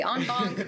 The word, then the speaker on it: en banc: You say in bank, I say en banc, right.